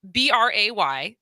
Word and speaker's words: Bray: And it was funny because I asked you at the break, because Bray, so your name actually phonetically makes sense as it rhymes with gray.